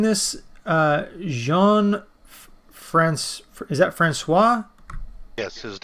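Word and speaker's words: François: Not sure if I'm good at pronouncing this. Is that Francois? Yes, his name is Jean-Francois Pelletier de Rosière.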